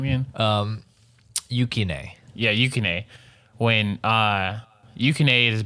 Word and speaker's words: Yukine: Yes, when she saves basically Yato's life, because the third character, Yukinin, how do I pronounce his name again? Yukine.